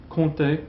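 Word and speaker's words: compter: use con plus infinitive con plus don't pronounce the P so for example um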